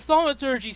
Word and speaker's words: thaumaturgy: A lot of Yeah, clarifications and then a whole alternate quick play system, basically, with cheer saving thaumaturgy. yeah. Am I pronouncing that right?